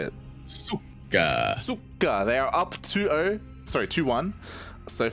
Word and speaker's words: суки: Is it Shuka? How do you say it? Suka.